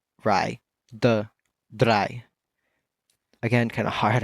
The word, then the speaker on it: drei: 3 is going to be drei. Drei. Kind of like that drei sound, but it's kind of hard to, roll that R when it's just by itself. But altogether, it's drei.